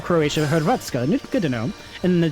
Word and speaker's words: Hrvatska: Do you pronounce the H in that, or is it just Hrvatska? Hrvatska. Hey, thank you! I'll take it. I was gonna say, this is super stupid, but I had to practice and get together. Don't pronounce it. So... Vratska? Vratska. Oh, you do pronounce the H, okay.